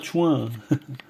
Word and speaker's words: tchoin: Donc ça s'écrit TCHOIN, hein, donc c'est un nouveau mot pour dire pute. Hein. Donc en fait, on dit un chouin, comme un tapin par exemple.